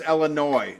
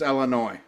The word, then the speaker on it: Illinois: You ought to know it's Illinois. The S is silent.